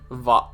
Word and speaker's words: Vav: Zayn, Teth, Hey, Vav. It's pronounced Vav and not Wah.